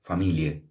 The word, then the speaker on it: familiae: era el status familiae, que se pronuncia familie.